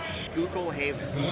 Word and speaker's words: Schuylkill Haven: Okay, so Google told me it's actually pronounced Schuylkill Haven.